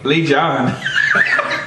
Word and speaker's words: Legion: Legion. Lee John of Doom. Is that how you say it? Because Lee John of Doom. That's not how you spell league. That's not how you spell league. Lee John of Doom. It's the Legion of Doom.